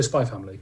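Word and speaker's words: Spy × Family: is spy is it spy x family is that what it is yeah i think you i don't think you pronounce i think just go spy family spy family okay which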